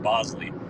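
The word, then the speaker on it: Boushley: they like Adrien Hower and they like Caleb Bosley it looks like Bley but apparently it's pronounced Bosley they like him so there's there's some guys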